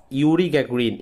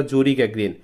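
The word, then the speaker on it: Yuri Gagarin: বলছে after the flight after পরে the flight মানে বিমান চালানোর পরে অথবা উড্ডয়নের পরে অফ ইউরি গ্যাগ্রিন ইংলিশ উচ্চারণটা হচ্ছে ইউরি গ্যাগ্রিন বাংলায় বলবো হচ্ছে আমরা জুরি গ্যাগ্রিন।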